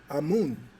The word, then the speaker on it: Amun: And amen can also be pronounced amun. A mu n or a m. both are the same.